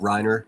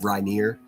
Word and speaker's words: Reiner: Just like Rob Reiner is pronounced Rob Reiner, not Rob Reineer.